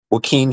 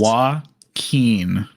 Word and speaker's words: Joaquin: Joaquin Phoenix. What's the difference? Joaquin, not Joaquin.